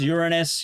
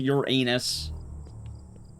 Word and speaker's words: Uranus: Yes, cuz I pronounce is actually pronounced Uranus. You don't have to pronounce it your anus, but obviously, you know, it happens enough times.